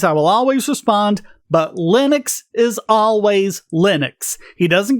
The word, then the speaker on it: Linus: And what he said was, his name, Linus, gets pronounced different ways anywhere. Back home, where he's from, it's pronounced Linus. Most people in Europe pronounce it Linus. He goes to America and he's called Linus. And he says, that's fine. You can call me by any of those things.